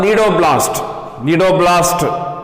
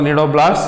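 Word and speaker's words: cnidoblast: So in this way nematocytes or the stinging cells or the nidoblast, C is silent here. Nematocytes or the stinging cells or the nidoblast, so here C is silent.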